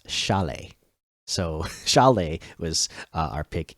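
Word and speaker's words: Šalé: not just Sally the the s in the beginning there uh that's a sh to it so it's Chalet so Chalet was our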